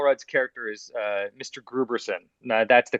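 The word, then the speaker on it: Grooberson: that uh paul rudd's character is uh mr gruberson now that's the correct pronunciation of his name okay thank you for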